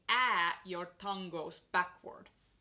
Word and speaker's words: Ä: When you are pronouncing ä, your tongue goes backward. So you pronounce ä like you would pronounce ma'am or aunt or damn.